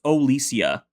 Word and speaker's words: Olesia: It's Olesia. What? Olesia, according to Bubblepedia. Alicia. Oh, they just pronounced it like Alicia, though.